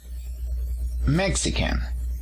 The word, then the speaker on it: Mexican: la primera sílaba y en cuanto a la nacionalidad mexican también se encuentra en la primera sílaba colocamos una s para